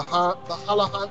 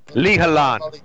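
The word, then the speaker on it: Li Halan: The Halahan, I can never pronounce it right. Maybe someone can correct me. Lihalan. What's that? The Al Malik, the Lihalan.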